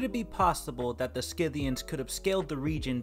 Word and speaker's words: Scythians: how you pronounce that word do you really pronounce it sciviens so i decided to look it up and it turns out it's actually pronounced scythians so yeah i don't know why i decided